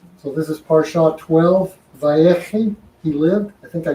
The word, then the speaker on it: Vayechi: So this is Parsha 12, Vayechi, he lived.